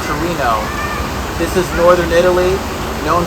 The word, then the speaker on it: Torino: Turin is the name in Piedmontese, the dialect here. In Italian it's Torino.